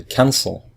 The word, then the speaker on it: cancel: we listen to it we say cancel so the first syllable is stressed so we just add